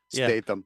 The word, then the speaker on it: Statham: Statham.